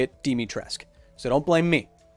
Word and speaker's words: Dimitrescu: thick vampire mama i had written it and pronounced it lady dimitrescu according to what romanian speech is like i was corrected by capcom themselves the company saying no it's don't say it that way say it demitresque so don't blame me it's not my fault